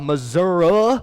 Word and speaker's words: Missouri: from springfield missouri uh missouri is i didn't realize that the i turns into an a when you move there and so it's just that's how you pronounce yeah i'm from missouri